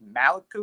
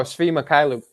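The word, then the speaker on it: Svi Mykhailiuk: I don't know how to pronounce his last name. I think Maliku or something like that. Oh, Svi Mikhailuk.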